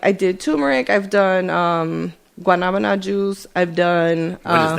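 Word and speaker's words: guanábana: Guanabana.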